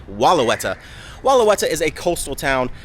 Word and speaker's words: Wellawatta: At first, I thought it was pronunciated Wellawatta, but now I believe it is actually Wellauwatta.